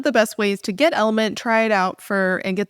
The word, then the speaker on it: LMNT: can grab is Element, which is spelled LMNT, but it's pronounced Element.